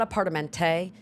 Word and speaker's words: apartamento: It's not apartamento, it's apartamento. En español. ¿Cómo se dice apartamento en español? Apartamento.